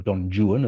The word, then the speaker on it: Don Juan: chose the figure of don juan or don juan as byron pronounces it which allowed him to